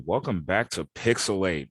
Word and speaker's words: PixelHate: right welcome back to pixel 8 where the H is silent but the hate is